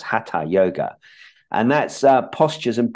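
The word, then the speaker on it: Hatha yoga: what they call ha yoga it's really it's pronounced ha yoga and that's uh postures and breathing exercises and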